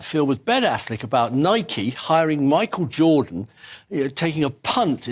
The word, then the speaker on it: Nike: to that combination of Air Nike Nike it's pronounced Nike is the Greek word for victory uh and